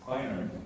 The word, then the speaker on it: Beiner: And Beiner, is that how you pronounce it? Yeah, Beiner is a psychologist based in London, specialized in the treatment of complex trauma.